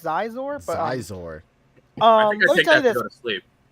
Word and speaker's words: Scizor: zor I think it's I think it's pronounced zizor but zor go to